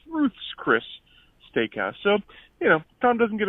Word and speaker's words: Ruth's Chris: I believe you said it was Ruth Chris, but it's actually Ruth's Chris Steakhouse. It's the possessive, as if it's Ruth's Chris, not James Chris. It's Ruth's Chris Steakhouse.